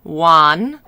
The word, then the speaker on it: Wan: were getting even closer her name is spelled w-a-n juan a's in chinese are like father a fa but with the e on the end e it kind of has like a uh like a uh sound